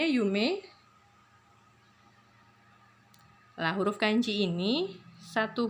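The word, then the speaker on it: 夢: Ini sama bacanya yume.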